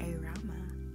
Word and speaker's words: Arama: good the aroma aroma that actually rhymes with my name arama so if you are wondering how to say my name yes you say it a rama i just love my